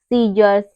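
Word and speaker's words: scissors: पर सी साइलेंट है science muscles सीजर्स seen in सब में क्या है इन सब में एस के बाद हमारा सी आ रहा है तो सी यहां पर क्या हो रहा है सी यहां पर हमारा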